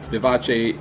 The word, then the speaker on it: vivace: for lively and vivid it is pronounced vivace in the international phonetic alphabet vivace is used as